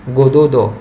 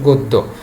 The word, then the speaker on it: গদ্য: তোমরা যদি গদ্য নিচে যদি হসন্তটা না দাও তাহলে সেটা উচ্চারণ হবে গোদোদ, তাহলে এটা তো হচ্ছে না, এটা তো গোদোদন, এটা হচ্ছে গদ্য।